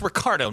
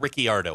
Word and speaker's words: Ricciardo: It's Ricardo, not Ricciardo.